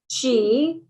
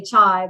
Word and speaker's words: Qi: And the Feng Shui word for energy is Qi, C-H-E-E, not like the Chia Pet or your coffee chai, which I always want to say chai, but it's Qi, C-H-E-E. Well, C-H-I, but the way you pronounce it. The way you pronounce it, C-H-E-E.